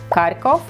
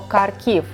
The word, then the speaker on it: Kharkiv: So the first confusion, how to say it correctly, Kharkov or Kharkiv? Kharkiv is a Ukrainian version, and you can see